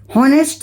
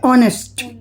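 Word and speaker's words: honest: ऐसे ही होनेस्ट नहीं बोलेंगे इसको। क्या बोलेंगे? ऑनेस्ट। क्या बोलेंगे? ऑनेस्ट। तो इसमें ह साइलेंट है। ह का साउंड हमें सुनाई नहीं दे रहा है।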